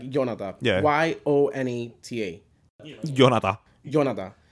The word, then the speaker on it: Yonata: Y-O-N-A-T-A. Yonata. Yonata. Like my godmother, she won't even give me the Yonata.